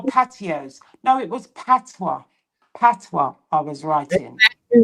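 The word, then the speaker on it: patois: I wrote the word PWA. Yeah. And PWA is spelled P A T O I S. And someone actually said that I can't spell cuz I can't spell patios.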